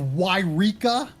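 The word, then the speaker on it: Yreka: then i flew by the town of of wyrica i i think that's how it's supposed to be pronounced it's like eureka except with a y at the front it was a play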